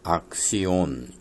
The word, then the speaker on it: Axion: 에 이건 용어의 액션이라는 행동한다는 그런 그 단어와 발음이 비슷한데 액션이라는 행동한다 행동 이라는 뜻이 아니고 악 씨온 ax 아이보 벤 으 액션은 h tion 행동이라는